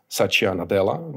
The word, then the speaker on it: Satya Nadella: Microsoft changed very much after the current CEO Satya Nadella do I pronounce it well that's right yeah after he